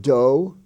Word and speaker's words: dough: sometimes money is called Doe d-o-u-g-h the o-u-g-h those four letters stand for long o do and though is also